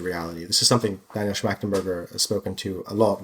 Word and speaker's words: Schmachtenberger: I always say his last name wrong. You can help me out. Schmachtenberger.